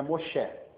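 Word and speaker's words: משה: Então ela você vê lá o nome, o nome judeu hebraico de Moisés é Moché. Esse é o Moché é a pronúncia.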